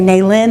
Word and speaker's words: Nalyn: And I say Nalyn, accents on the second syllable.